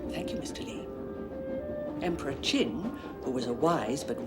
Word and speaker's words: Qin: It is pronounced Qin. Oh, thank you, Mr. Lee. Emperor Qin, who was a wise but ruthless man, reigned from 221 BC to the year 210 BC.